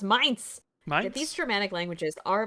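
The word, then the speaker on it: Mainz: oh Jerk Pit River says it's pronounced minds but these Germanic languages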